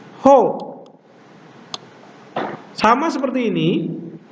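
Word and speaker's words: ὁ: Jadi ini ada tanda nafas. Tanda nafasnya kuat atau lemah? Perhatikan di sini dalam huruf Ho ada tanda pernafas. Tanda pernafasannya adalah tanda pernafasan kuat. Jadi harus diucapkan Ho.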